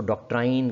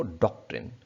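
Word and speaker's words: doctrine: British में हम इसको डॉक्ट्रिन, यानी ये ऑ साउंड के साथ आप इसको पढ़ेंगे, डॉक्ट्रिन। और अमेरिकन जो है वो डॉक्ट्रिन, आ साउंड होगा।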